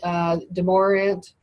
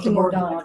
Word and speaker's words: DeMordaunt: So here we got Wednesday, January 20th, Education Committee, Demorant, or is that how you say it? Demordaunt. Demordaunt, More dawn.